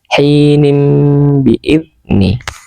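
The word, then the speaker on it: حِينٍ بِإِذْنِ: Tulisannya hinin biidni. Hinin biidni. Cara membacanya hinin biidni. Hinim biidni.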